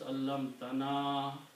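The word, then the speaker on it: عَلَّمْتَنَا: So you have to pronounce allam tana long.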